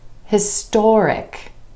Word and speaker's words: historic: History becomes historic, historic. When we add the IC ending, the stress shifts to the OR sound right before the suffix, historic. This is a historic moment.